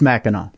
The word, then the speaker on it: Mackinac: It's Mackinac, yeah.